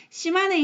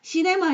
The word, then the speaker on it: 시마네: 시마네 현, 이거를 애들한테 읽으려고 하면 맨날 시네마 현이라고 읽는데 아니에요. 시네마 아니고 시마네 현.